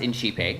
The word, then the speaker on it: INCiPE: like go ahead and begin and um it's pronounced inchipeg in case you were wondering and you can